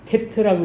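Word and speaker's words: טית: 믿음으로 감사하며 단어는 하나잖아요 근데 이제 읽을 때는 테트라고 읽어요 테트라고 읽으면 이제 세자가 있죠 세자 한 자가 아니고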